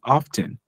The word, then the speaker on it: often: I say how often I put the pronunciation on the T some people put it on the F how often you need